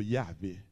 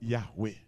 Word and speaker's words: Yahweh: Pas grand monde qui connaît comment prononcer. Mais en biblique, je crois que ce nom, c'est plutôt Yahvé ou Yahweh.